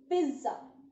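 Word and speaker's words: pizza: होता है, word is पिज्जा, यस the word is पिज्जा। यहाँ पर हम हल्का सा साउंड डी का देते हैं, प्रोनाउंसिएशन होता है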